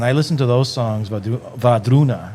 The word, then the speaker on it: Wardruna: And like when I listen to those songs, Vadruna, that's how you say it. So the W, Va. It looks like it's spelled Wardruna. It's Vadruna. W becomes V, yeah.